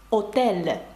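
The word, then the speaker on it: hôtel: нема у французькій мові тому буква аш Просто пишеться але не вимовляється наприклад слово готель французькою буде отель А пишеться воно з аш Чи слово гамак амак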